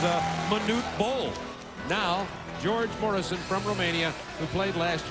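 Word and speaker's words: Mureșan: International Applause thank you George Morrison I understand is how he pronounces his name from Romania played in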